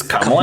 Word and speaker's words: Kamala: Pronounce her name right. It's Kamala Harris.